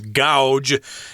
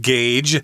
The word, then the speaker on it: gauge: this word she says gouge because a you isn't that ow but this is a weird word we pronounce it gage as a verb and as a noun the noun would be